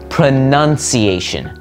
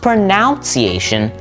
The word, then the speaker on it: pronunciation: like that the actual pronunciation of the word is pronunciation not pronunciation pronunciation that's why we spell it n n